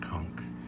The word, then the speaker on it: conch: They're spelled conch, but they're pronounced conch.